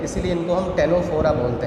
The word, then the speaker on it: Ctenophora: यहाँ पे भी देखो सी साइलेंट है, इसका प्रोनाउंसिएशन क्या है, टेनोफोरा।